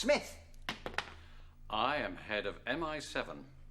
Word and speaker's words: Smythe: Carrington Smythe, pronounced Smith.